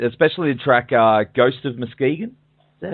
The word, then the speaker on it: Muskegon: I've been honestly really been digging it, especially the track "Ghost of Muskegon." Is that how you pronounce that? Oh yeah. That's a great track, man. Muskegon, oh, thank you so much.